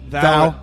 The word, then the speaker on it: Thou: Is that how you say it? Thou? It is? Yeah.